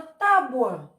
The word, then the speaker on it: tábua: e ir nesse modo a palavra que é escrita com a letra u sai com som de o por conta de uma